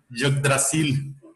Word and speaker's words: Yggdrasil: El árbol se llamaba Yggdrasil. ¿Sí? ¿Cómo, profe? Yggdrasil. Yggdrasil. Así se pronuncia, Yggdrasil.